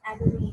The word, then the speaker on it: Adelaide: Recently, when they just extended the railway track in February 2004, okay, from Adelaide, and it's Adelaide. We pronounce it as Adelaide.